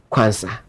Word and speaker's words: Quansah: they were looking for Konsa, which is Quansah. So different pronunciations, different spelling, but same pronunciation when it comes to the semantics of it.